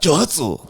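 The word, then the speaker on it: 蒸発: Johatsu.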